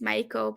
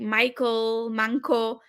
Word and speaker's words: Maiko: Starbucks and I say my name is Maiko, but people was like Michael, manko in Right.